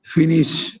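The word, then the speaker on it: finissent: তারপর হ্যাঁ, আই এল এল এর সাথে এরিয়াটা হবে ISSENT, উচ্চারণটা উচ্চারণটা হবে ফিনিশ।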